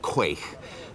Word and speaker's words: quaich: Various pronunciations, but the usual one is quaich, which is actually a Scottish word, and it means a two-handled drinking bowl.